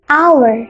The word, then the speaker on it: hour: dalam bahasa Indonesia kan hour tapi ketika diucapkan dia menjadi our nah depannya huruf H